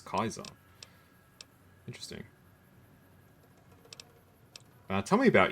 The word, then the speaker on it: Caesar: would have destroyed us it's interesting how raham says it Caesar which is the not corre correct pronunciation F chalk says it as Kaiser interesting uh tell me